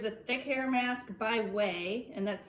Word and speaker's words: OUAI: hair well here's a thick hair mask by way and that's spelled o-u-a-i i bought this with my own